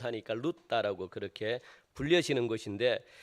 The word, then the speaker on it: 룻다: 이 룻다는 이 룻의 헬라식 발음인데 룻에서 이 헬라식 발음을 하니까 룻다라고 그렇게 불려지는 곳인데 이